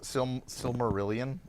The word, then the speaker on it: Silmarillion: pronounce it? Silmarillion from Yeah.